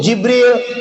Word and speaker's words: Jibril: namanya Malaikat Malaikat Jibril Jibril j j ejaannya gini Jim ba ya lam jadi dibaca J Jibril itu kalau kita orang